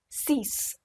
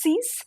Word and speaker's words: six: Cinq, six. Now, some people say it's six, some people say si. I prefer six because when I was in France, most of the times I've heard six.